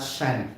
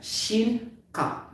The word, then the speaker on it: Shin Cup: Okay, emphasize that as Shin because this is I. This is matigas. Okay? Not Shan. Shin Cup.